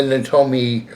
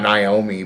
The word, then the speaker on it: Naomi: The reason why I say not Naomi but Natomi, it's actually called Natomi, not Naomi. The O is silent in the it's supposed to be not Tomi, and not Naomi. Most people say Naomi, and it's not called Naomi.